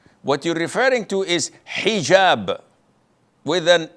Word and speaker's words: hijab: otel or Alo but this is an Arabic word so we're Muslims we have to say hijab secondly it is permissible